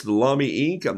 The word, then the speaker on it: Lamy: the lobby pin here mommy as john robert small would say rhymes with mommy and so that's the pen it's just uh dark ink it's the lamy ink i'm not using